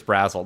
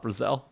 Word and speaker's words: Brazzell: I'm going to correct you that it's Chris Brazzell, not Brazzell.